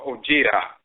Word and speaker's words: Odwira: And of course, you find that in the Akhan language, DWRA, but it's pronounced Jira or Ojira, the noun version Ojira, and the verb Jira.